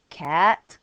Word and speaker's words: quatre: Quatre, silent e.